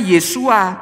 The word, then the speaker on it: Yeshua: tapi yogs in Wow ingin dibacanya yesua bukan tisu ah karena your di